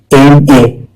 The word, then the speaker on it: MA: एम ए का उच्चारण होता है ई एम ई आई एम ए, और एम का साउंड है एम, यानी यह एक भावल साउंड है, और भावल साउंड से पहले हमेशा लगाता है एन आन।